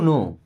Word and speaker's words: know: I just want to नो आई मीस मैं just means बस वांट मींस चाहता हूं टू नो अब यहां पे के साइलेंट टू नो मींस जानना